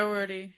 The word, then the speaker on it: Doherty: a silent H that isn't silent in there. Doherty.